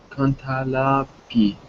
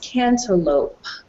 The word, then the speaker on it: cantaloupe: this sentence i like grapes chairs watermelon and cantala pea i like grapes coma chairs coma okay very good all right so that word is pronounced cantaloupe okay a cantaloupe is a melon okay it's